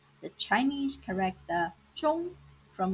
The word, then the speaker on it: 中: Here are some examples of Chinese words using 中中药 Chinese medicine, 中国茶 Chinese tea, 打中 to hit a target. The Chinese character 中 has two pronunciations. First tone 中 and fourth tone 重.